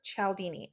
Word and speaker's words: Cialdini: While I was editing this video, I realized I have been saying Robert's name wrong my whole life. It's Robert Cialdini.